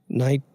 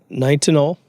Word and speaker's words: Nitinol: I don't know how to pronounce it, but the English language would have us pronounce it something like Nitinol. Nitinol.